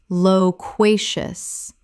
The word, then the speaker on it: loquacious: sycophantic sycophantic Word 274 loquacious Common mispronunciation loquacious Correct pronunciation loquacious Three syllables with the stress on the second, meaning very talkative.